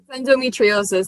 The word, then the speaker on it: endometriosis: correct and you have been battling with uh endometriosis did i botched that pronunciation endometriosis that's actually yeah a lot of people botch